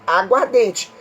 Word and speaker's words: aguardente: Quando eu pronuncio a palavra aguardente, eu percebo que há uma perda fonológica de uma letra. Qual é a letra? A. Eu não falo os dois A's, mas eu pronuncio um A como se fossem os dois.